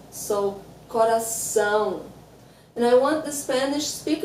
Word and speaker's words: coração: Yeah, so the first word I would like to talk about is coração.